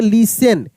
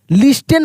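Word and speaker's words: listen: ओ एन ओ यू एन C pronounce pronounce pronounce L आई एस टी ई एन लिसेसन क्या पढ़ेंगे लिसन लिस्टेन पढ़ देते हैं बहुत सारे लोग क्या पढ़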